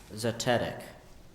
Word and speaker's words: zetetic: by inquiry zetetic zic are there any alternate pronunciations I have just the one zetetic can you please repeat the definition proceeding by inquiry can I please have the language of origin Greek zetetic can you please use